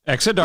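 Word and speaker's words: Exa Dark: You start with Exa. Dark. Exodark. Like dark skies. Exodark. Exodark. Those are both phonetically pronounced as expected.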